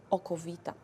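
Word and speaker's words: okowita: So we also start to call it aqua vita, from Latin, water of life, or how Polish people pronounce that, oko vita.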